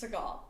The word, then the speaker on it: Segel: Jason Segel. Is that how you pronounce his last name? We don't know. Okay, he's the mother. Cosmo aggressively said, "It's Seagal."